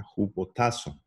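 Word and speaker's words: ὑποτάσσω: significa esa palabra sujeto en griego es eso se pronuncia ju potazo y eso significa poner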